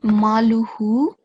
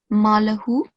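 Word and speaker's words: مالُهُ: So here, this is maluhu, but instead of pronouncing a madda, lam, you pronounced a fatha, malahu.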